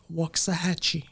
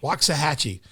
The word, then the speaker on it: Waxahachie: Waxahachie. Waxahachie.